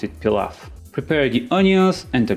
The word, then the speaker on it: pilaf: on where you live it's pronounced differently we pronounce it pilaf prepare the onions and the garlic by first